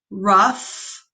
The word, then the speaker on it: rough: Points, race, rough. Now the GH in this word has an F sound.